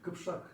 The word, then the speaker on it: Кыпсак: Если дословно брать этноним Кыпсак, наиболее правильно его произносят только два народа современных. Это казахи и башкиры. Кыпшак они произносят. Да, это тоже правильная форма, потому что у них даже может быть более правильная. Вот эта казахская форма Кыпшак более правильная даже, чем Кыпсак.